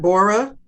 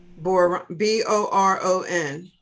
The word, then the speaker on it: boron: how to pronounce that Borah um chromium copper iodine did you say Bora or Boron b-o-r-o-n Boron remember Boron remember